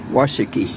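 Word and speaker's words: Washakie: and and uh see she told me the correct pronunciation this town is washiki so uh anyway she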